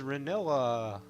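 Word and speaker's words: Rinoa: This is Renoa. That's how we're gonna pronounce it, and that's what we're gonna go with.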